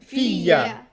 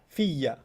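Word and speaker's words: فيّ: فيا The ya becomes doubled. yeah فيا Right? Because there's a ya already in fi, and there's a ya in the ana. Yeah, So, so you pronounce it what? Fiya. Fiya. فيا like Okay. a double jump.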